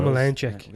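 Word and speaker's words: Omielańczuk: Omelanchuk. That's exactly how you say it.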